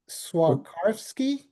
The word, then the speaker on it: Swarovski: I think it's pronounced Swarovski.